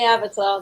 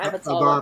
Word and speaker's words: Avata: Oh, is that how you say it? I keep calling it Avatar. Avata. I thought it was Avatar as well. Yeah. Well, you don't know what you're talking about then, Steve. He hasn't got an R.